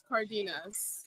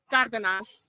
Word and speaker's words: Cardenas: Well, Cardenas. Did I say that right? Well, No, I'm not Hispanic, so I'm not gonna say it right. The English way is Cardenas. Cardenas. Yeah. What's the Hispanic way? Cardenas.